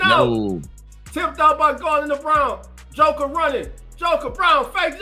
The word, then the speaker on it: Braun: It's Brown. It's Brown.